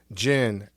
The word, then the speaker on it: Djinn: Jin d j i n n the D is silent and um you can